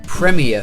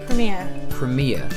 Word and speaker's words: premier: Premier Foods. Say that word again. Premier. So you put the emphasis on the premier. You put the emphasis on the ear. We say premier.